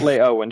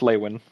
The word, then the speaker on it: Leywin: Not Lay-Owen, just Leywin.